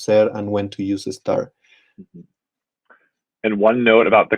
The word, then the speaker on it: está: writing and spelling and the stress on the second syllable. That's the accent mark kind of lets you know that you'll be putting more emphasis on that syllable rather than the first syllable, esta or estas.